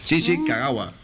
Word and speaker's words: Shinji Kagawa: Y un propio japonés es el que te lo pronuncia, ¿no? A ver. Shinji Kagawa. Shinji Kagawa.